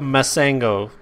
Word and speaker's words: Mansango: Mansango. The N is silent.